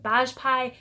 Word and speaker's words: Bajpai: I finally figured out how to say her last name. It is Bajpai, at least according to the internet.